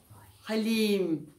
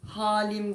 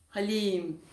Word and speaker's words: Halim: Halim. İ'si uzun. Halim değil. Halim. Değil mi? Okunuşu bu.